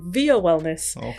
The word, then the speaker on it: Via Wellness: It is Via Wellness because of Melvia.